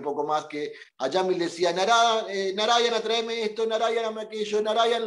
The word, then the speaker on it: Narayana: Narayana. Four syllables.